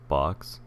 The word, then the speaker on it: Bochs: So the first thing I want to cover are the four that I'm going to look at, which is Bochs, which I believe is pronounced Box, QXL, VGA, VirtIO, and I'm going to talk about Ramfb, but I won't be showcasing it.